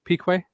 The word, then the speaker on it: Piquet: Because I can't quite decide how I'm going to pronounce that. Go through him again. Alan Jones, Kiki Rosberg. Is it Nelson Piquet?